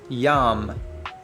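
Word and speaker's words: ים: So with that, our first word is yam. Yam. It's spelled with a yod and a mem.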